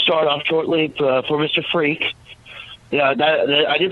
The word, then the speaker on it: Freke: Freke. Yeah, I did pronounce that right, correct?